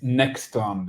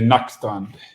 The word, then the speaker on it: Nackstrand: It's Nacstrand in Swedish. You can say Nackstrand.